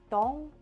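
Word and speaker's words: Dzong: right but it's like it's spelled DZ o n g like dong I've tried to like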